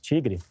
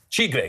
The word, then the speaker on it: tigre: How do you say tiger in Portuguese? Tigre. Tigre.